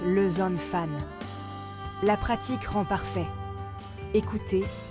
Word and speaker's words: les enfants: sont uniques au français la liaison est cruciale ou une consonne muette et prononcé avant une voyelle par exemple les enfants se prononcent le zone fan la pratique rend parfait